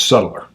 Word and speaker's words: subtler: But it's subtler. Subtler. I like to say it like that.